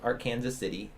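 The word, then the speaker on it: Arkansas City: was from a small town in kansas called ark kansas city it's spelled like archives been there okay oh really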